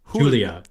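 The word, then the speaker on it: Giulia: Julia Julia it's spell it's like it's spelled g i u l i a like Julia Julia Julia but with a silent G let's pull up the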